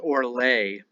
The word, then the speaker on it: orlag: Orlag is probably pronounced Orlay. Lag means lay.